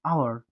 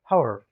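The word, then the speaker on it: hour: Consonant है, यानी कि व्यंजन है, लेकिन इसका जो उच्चारण है, इसका जो साउंड जो आ रहा है वो क्या आ रहा है? आ रहा है। आवर, आवर, आवर, हावर, हावर।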